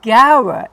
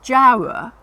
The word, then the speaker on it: gaura: Whereas gaura is before A, so it's hard, okay? Now, if you say jara instead of gaura, it's not the end of the world, but it's just sort of generally thought that's the best way to say it, okay?